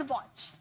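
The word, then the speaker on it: watch: याद रखिए, टी के बाद सी एच आएगा तो टी साइलेंट हो जाता है। फॉर एग्जाम्पल वॉच, काफी बार हम लोगों ने ये देखा है, लेकिन क्या कभी नोटिस किया टी साइलेंट है?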